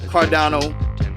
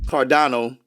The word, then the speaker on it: Cardano: on coinbase ada all this time i've been thinking it's cardinal ada but it's not it's actually pronounced cardano ada so what you also